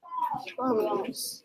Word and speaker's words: crumbs: Crumbs. Crumbs. That word is a little tricky because it has that silent B in there.